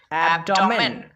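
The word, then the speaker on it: abdomen: এবার কিন্তু এ বি এর উচ্চারণ করতে হবে অ্যাপ, কারণ এর পরে আর কোনো বি নেই, সেজন্য আমরা এ বি কে পড়ব অ্যাপ, ডি ও ডো, এম ই এন মেন, অ্যাবডোমেন, অ্যাবডোমেন মানে তলপেট।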